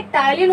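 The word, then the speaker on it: ptyalin: Student, ये टाइलिन होता है, इसको पी से लिखते हैं लेकिन पी का प्रोनाउंसिएशन नहीं करते हैं, टाइलिन एंजाइम।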